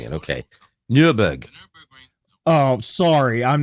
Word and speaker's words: Nürburg: Oh, that's why you're mispronouncing it. Okay. Nürburg.